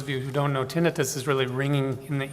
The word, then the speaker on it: tinnitus: Some people pronounce it tinnitus, but tinnitus is the usual pronunciation.